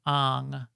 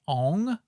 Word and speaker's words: Aang: Last Airbender movie where they decided to pronounce Aang as on for some ridiculously insane reason and so we always I was like Oh you mean Ong yes I mean Ong yes okay so we we do